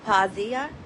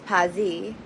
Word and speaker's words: Pazzi: So they go into the detail of Maria Novella as well, and Capella Pazia. I didn't even pronounce Pazia right, but it's Pazzi.